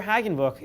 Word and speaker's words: Hagenbuch: Hagenbuch if you're interested in joining. I think I pronounced Mr. Hagenbuch's last name wrong. It's Hagenbu. It's Hagenbu.